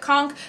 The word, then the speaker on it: conch: argument to be made if someone wanted to pronounce it conk for that also being a valid pronunciation of this word if you've heard any